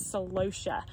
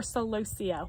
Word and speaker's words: celosia: step we have growing is celosia or celosia whichever pronunciation you prefer but celosia is also